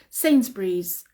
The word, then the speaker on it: Sainsbury's: we pronounce it is Sainsbury's sayings Breeze scenes Breeze and we have to say the Z at the end Sainsbury's Sainsbury's so we don't